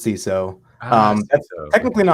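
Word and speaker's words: Seiso: I like oh yeah it's a play on CSO it's also a Japanese term that means like neat clean and organized so the idea is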